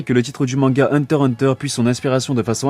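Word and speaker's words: Hunter × Hunter: des mots deux fois Hunter deviendra ainsi Hunter Hunter le X étant la queue pour la forme il ne se prononce pas Yoshihiro Togashi est marié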